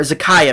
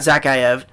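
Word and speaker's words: Zakhaev: Z right now, or Zakayev, not Zakayev.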